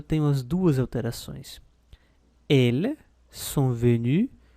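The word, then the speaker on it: venue: letra e ela é venu obila a pronúncia não muda né vai ser venu venu venu sempre igual alê alê a pronúncia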